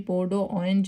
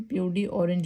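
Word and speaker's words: peau d'orange: ये French word है, इसको हम पो डो ऑरेंज ये पढ़ेंगे। वैसे तो फ्रेंच प्रोनाउंसिएशन इसकी पो डो ऑरेंज है, लेकिन इसको हम प्यूडी ऑरेंज भी पढ़ लेते हैं।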